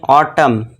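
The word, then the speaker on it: autumn: अब एम एन साथ में आ गए हैं तो यहां पे एम जो एन जो है साइलेंट रहेगा। तो इसे क्या पढ़ेंगे? ऑटम।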